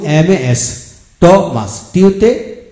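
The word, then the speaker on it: Thomas: এইচ ও এম এস টমাস, টিউতে ট হয়, টিউতে কি হয় ট হয়, এম এস মাস, এখানে এইচ এর উচ্চারণ হয় নি।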